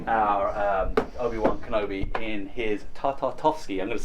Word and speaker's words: Tartakovsky: And we looked at the Clone Wars, and we even looked back at the Tartakovsky, said it right, Tartakovsky Clone Wars.